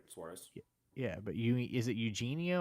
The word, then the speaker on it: Suarez: Yeah, you said it right, Suarez.